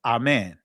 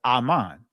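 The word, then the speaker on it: אמן: Aman in the Greek pronunciation of it is amen or amen. Ancient Hebrew is aman.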